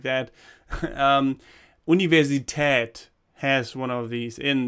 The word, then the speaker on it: Universität: So it should be Universität with the German Umlaut, these Ü and Ö. You know, these O with a dot and A with a dot and stuff like that. Universität has one of these in them, in it.